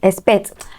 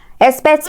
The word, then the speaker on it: expect: hear you guess right expect expect me tomorrow expect okay so it's realized like uh and S so it's a combination of literally a k and an S I'll put everything on